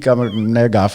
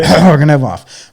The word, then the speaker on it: Nurmagomedov: Jesus, I'm thinking of his last name that I can never pronounce. Khabib Nurmagomedov or something. Okay. Nurmagomedov.